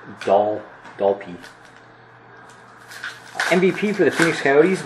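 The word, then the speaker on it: Dalpe: Paul says it's Dalpy.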